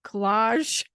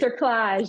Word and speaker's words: cerclage: Collage? That's not right. Cerclage.